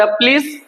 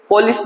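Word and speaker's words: police: इसको हम प्रोनाउंस हमेशा पलिस करेंगे। कई सारे बच्चे इसको पुलिस बोलते हैं। पॉलिश बोलते हैं। That is always miss pronounce word.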